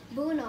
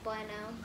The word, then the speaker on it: Bueno: So your last name is Bruno, right? I'm like, no, it's Bueno.